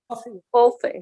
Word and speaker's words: Huafrid: Hi, Huafrid. I don't know how you pronounce it. Huafrid. Okay. Yeah. Huafrid.